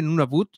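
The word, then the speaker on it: Nunavut: está en nun Bo se escribe nun Boot se pronuncia nun Bo y eh Ahí está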